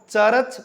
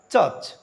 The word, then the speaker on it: church: Consonant आ रहा है तो are will be also silent, are यहां साइलेंट रहेगा. What is the right pronunciation? The right pronunciation of the word is नॉट चर्च बट इट is called चर्च.